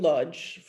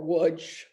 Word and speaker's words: Łódź: And they stayed in Lodz, or Łódź, depending on where you come from, how you say it.